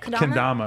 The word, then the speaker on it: Kendama: Kendama. Kendama.